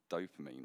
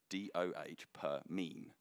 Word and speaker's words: dopamine: more so and i i actually kept on pronouncing dopamine wrong so i've actually written and i wish you could see it i've written doh per mean like that just so i can actually say it correctly so dopamine is basically